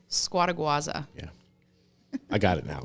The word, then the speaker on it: Scuoteguazza: Scuoteguazza.